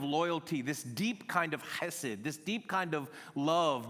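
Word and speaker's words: חסד: It's the It's the Hebrew word that needs to be pronounced from the way back of your throat part. So it's the word hesed. I don't It's like It's like you were about to cough and say it.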